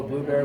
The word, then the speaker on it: Blubrry: And if people wanted to reach out and follow Blubrry, what's the best way for people to do that?